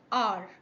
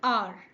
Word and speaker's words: hour: Example, an apple, an umbrella, an hour. But, remember, the rules rule depends on sound, not just spelling. So, for example, an hour, the here, H is silent, so the word begins with a vowel sound.